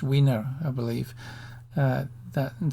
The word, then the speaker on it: Wiener: it probably should be Vino but it's pronunciation but it was American and so he um he likes his name to be pronounced winner I believe uh that